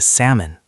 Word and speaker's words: salmon: Ah, the silent L. Yes. and the waiter gently said, "Oh, you mean the salmon." That is a very common reading mistake because the L is written but not pronounced.